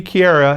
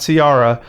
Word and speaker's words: Kiara: did look into it it does seem to be Kiara it's not carara um but outside of